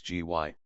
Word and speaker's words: Gy: the singular with man the word for woman is gy pronounced hard as in guy it forms itself into G yei for the plural but the G becomes soft in the plural like Ji they